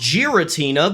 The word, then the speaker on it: Giratina: from G 5 gutina would now be pronounced Giratina because it's a combination of giraffe and patina which is the process